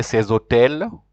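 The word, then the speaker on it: ces hôtels: Remember, we said hotel is silent, so you have to join. You'll say ces hotel.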